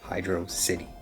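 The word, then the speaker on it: Hydrocity: However, the entire thing was finally fully put to bed when Yuji Naka himself said, "It's meant to be pronounced hydro city."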